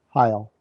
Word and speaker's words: Heil: his name is Dwayne is it is it hail or heel how do you pronounce that Heil Heil I was way off okay his name